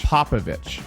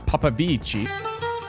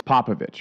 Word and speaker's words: Popovici: Popovici, not Papavici. Even though pronouncing it that way might make you feel cool and a little bit fancy. It's Popovici.